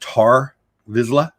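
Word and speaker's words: Tarre Vizsla: with guesses and am i saying it right tar vizila yes of the vizzle clan of mandalore yes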